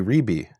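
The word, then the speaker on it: רבי: But when they did exist, and their descendants today in Israel, when they say rabbi, they don't say Rebbe, they say Rebi.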